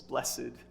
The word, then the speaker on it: blessed: or if you prefer the old-fashioned way to say it with two syllables blessed Jesus is pronouncing that